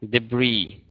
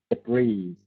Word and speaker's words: debris: sh Aviation okay so the word uh debris no s in the end debris debris deis tragic tragic tragic